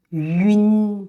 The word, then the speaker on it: yun: So when pronouncing yun sound, we need to say yu first, and then quickly glide to n sound. Make sure the air comes out from the nasal capacity.